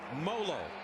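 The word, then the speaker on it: Moliola: who JT to imoloau it's molo like Rolo folks that's how they tell us to pronounce it well he's been playing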